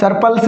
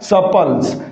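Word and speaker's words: surplus: सरपल्स है ये? नहीं साथियों, इसका करेक्ट प्रोनाउंसिएशन क्या होगा? सपल्स। यहाँ पर इस आर की क्या नहीं आएगी साथियों? साउंड नहीं आएगी।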